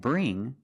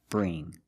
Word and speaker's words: bring: So when you see words like wing, sing, and bring, you see the combination of ing, you know it's a long E sound like green beans.